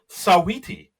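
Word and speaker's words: Saweetie: Uh we have Simu Leu uh you know Canada's own as the host and u musical guest Sawiti. And I looked it up just to make sure I pronounced it right.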